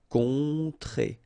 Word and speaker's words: rencontrer: Rencontrer. Alright, so keep in mind, en, on, on, rencontrer. Rencontrer.